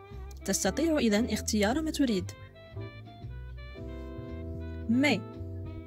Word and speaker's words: mais: Mais, avec S à la fin, ولكنها لا تنطق الS à la fin.